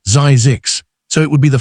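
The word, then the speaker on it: Zzyzx: health spa, and named it Zisks, pronounced Zizix, so it would be the final listing in every directory.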